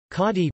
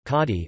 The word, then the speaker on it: Khadi: Khadi, pronounced K-A-D-I-I-A-S-T, Khadi or Khadar, is handspun, hand-woven natural fiber cloth from Pakistan, India, and Bangladesh, mainly made out of cotton.